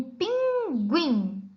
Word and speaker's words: pinguim: ou não é pronunciada mas existem alguns casos em algumas palavras que o é pronunciado no grupo de letras g1ig observem os exemplos que a profe Gabi trouxe nós temos aqui um pinguim repita com a Prof